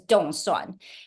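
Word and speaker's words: 凍蒜: Taiwanese um be elected get elected is actually pronounced as Donan and Donan in mandering Chinese the literate translation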